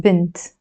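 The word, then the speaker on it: بنت: I will give you the B plus n plus T and we pronounce this as bent which means girl bent okay actually wait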